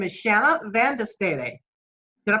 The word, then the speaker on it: Shanna Van De Stede: belgium a high school freshman her name is shanna vandestadi did i pronounce that correct shanna yes you did okay